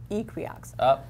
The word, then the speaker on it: Equioxx: And then they released it as, they relabeled it as Equiox in horses. And I talked to a tech services vet from that company, and they pronounce it Equiox, like equine. So I'm Equiox.